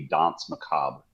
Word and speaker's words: Danse Macabre: I guess properly it would be Dons Macob. uh if we're going real real French with it.